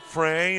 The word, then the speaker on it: Frey: Got a coach friend that his last name is F R E Y and pronounces it Fry.